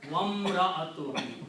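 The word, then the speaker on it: وامرأته: And waw is there, so if you put a waw, then you do not pronounce this alif here, combine waw with the meme, wamra'atuhu, and his wife.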